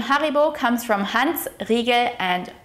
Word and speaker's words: Haribo: Next up, let's talk about one of the biggest candy brands in the world, Haribo. Haribo macht Kinder froh und Erwachsene ebenso. The proper way to pronounce Haribo is Ha-ri-bo.